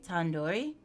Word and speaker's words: tandoori: Surely you at least recognize tandoori chicken. You're saying it wrong. Wait, really? Tandoori? Tandoori. The do isn't like indoor. It's like do head.